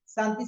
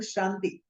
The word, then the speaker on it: Shanti: When you're chanting Om Namah Shivaya, we say Shivaya, Shivaya, we say Santi Santi, no, Om Shanti.